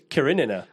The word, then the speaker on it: Karenina: Karenina? It's Karenina. Bro, I don't Anna Karenina. friggin' know. I've heard it pronounced, and I've seen that it's like fucking this thick.